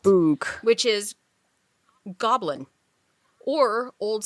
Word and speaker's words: bwg: It's BWG, is how it's spelt. Boog.